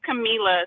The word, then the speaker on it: Camila: It's Camila, so like Camila. Okay, like with like from 702, Camila.